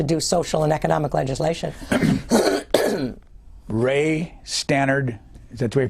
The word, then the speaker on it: Ray Stannard: reluctant Congress to do social and economic legislation Ray Stannard is that way you pronounce it yes Baker who was he well